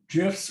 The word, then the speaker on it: GIFs: but they also have gifs or gifs however you want to pronounce it they have larger